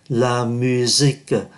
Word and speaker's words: la musique: La musique, chúng ta cũng để ý S đứng giữa hai nguyên âm, phát âm là Z. La musique là âm nhạc.